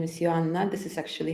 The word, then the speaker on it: Joanna: already know my name is my name is Johanna this is actually how you pronounce my name in my English in my